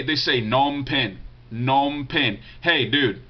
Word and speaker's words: Phnom Penh: He said, I was wondering where's the best place in Phnom Penh to buy fruit at.